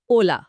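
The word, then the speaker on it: hola: যদি শব্দটা হয় এইচ ও তবে সরাসরি ও থেকে উচ্চারণ শুরু হবে ওলা।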